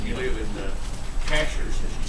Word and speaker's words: Cashiers: you live in the Cashers and she said I live cashiers I said no ma'am it's Cashers and she said I